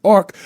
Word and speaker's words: AI RCC: artificial intelligence the new AI RCC pronounced Arc will wouldn't it be Eric wouldn't it be like Eric like or or D